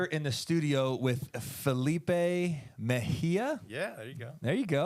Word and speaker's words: Mejia: A lot of people get my last name wrong because it's actually spelled with a J. So like you should have heard through school. Teachers, Mejia, like it's just all over the place. I'm like, Mejia. Right.